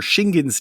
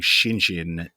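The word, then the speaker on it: Shingen: And the G in poor Shingin's name kept getting pronounced like a J for no reason. We were saying Shinjin.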